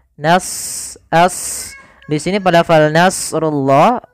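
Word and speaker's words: نَصْرُ اللَّهِ: as di sini Pal Nasrullah huruf shadnya kita baca dengan tebal karena huruf Shad ada salah satu sifatnya baq dan istil yaitu idbaak melekatnya lidah kita dengan langit-langit atas dan istila adalah pangkal kita terangkat maka Nas as Nas tebalkan Tapi nanya tipis jarullahi kemudian padaal rullahi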